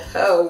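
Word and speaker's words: Heaux: they came out with this color called Ho, which is H-E-A-U-X, not hoe like you like a hoe, or or like your mom's a hoe, spelled like that French bougie way.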